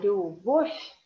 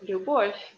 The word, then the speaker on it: любовь: Because this V in the end of the word is read like F.